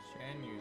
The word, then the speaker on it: Xianyun: Xianyun, that's how you pronounce it.